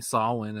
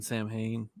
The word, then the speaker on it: Samhain: i still find it hilarious how he keeps mispronouncing saulwin as samhain halloween 2 made me think that's exactly how you pronounced it so for years i kept saying samhain that's because that's the logical way to pronounce